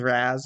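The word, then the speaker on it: Ra's: pronounced that way before they also pronounce race is Razz which I've heard both ways from from fans from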